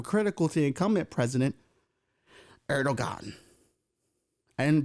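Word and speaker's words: Erdoğan: to the incumbent president, Erdogan. And did I pronounce that right? No, Erdogan. No, kids, like he's got Erdo, and that thing over the G. Erdogan? Erdogan, let's go with that one.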